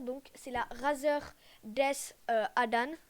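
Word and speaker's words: DeathAdder: Et une souris un peu moins chère, donc c'est la Razer Death Adan. Je crois que ça se prononce Adder, pardon.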